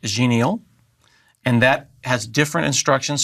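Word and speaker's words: Xenial: And then Ubuntu 16.04, which I believe is pronounced genial.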